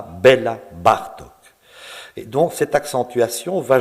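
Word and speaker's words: Béla Bartók: dans la musique hongroise l'accent tonique ne se place pas comme dans la langue française il se place bien plus volontiers sur le de près la première syllabe du mot on dira bela bartok et donc cette accentuation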